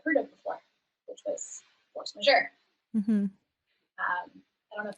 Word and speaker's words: force majeure: in random photography groups, I thought it was force major. And then I realized it's force majeure.